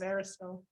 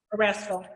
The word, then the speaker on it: Erastil: And she's now in the service of Aristil. Or am I pronouncing that right? Erastil? Erastil, yeah.